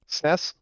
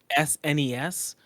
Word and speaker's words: SNES: Sness.